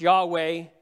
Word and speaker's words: Yahweh: And God gives us what is YHWH, sometimes pronounced Yahweh, right?